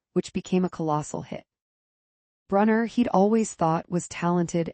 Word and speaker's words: Brunner: Robert Brunner rhymes with Sooner.